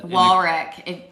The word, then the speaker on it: Warwick: Warwick. You got to pronounce it Warwick.